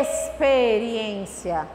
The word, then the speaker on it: experiência: A experiência.